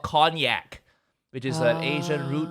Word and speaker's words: konjac: special thing called and i learned how to pronounce it properly now it's called cognac which is an asian root vegetable you know